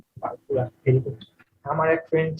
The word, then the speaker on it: purpura: এটার নাম কি বলতো, উচ্চারণ করতো? পারপুরা। পারপুরা, very good.